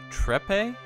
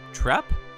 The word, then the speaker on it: Trepe: of sorta quiz tis with her last name being trepe or trapp so maybe i got